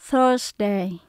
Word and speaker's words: Thursday: Sunday, Monday, Tuesday, Wednesday, Thursday, Friday, Saturday.